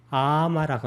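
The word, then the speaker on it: āma: 풋것은 아마라고 합니다. 아마, 아를 길게 발음해야 됩니다.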